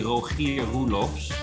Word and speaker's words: Rogier Roelofs: Rogier Roelofs. It's actually Rogier Roelofs.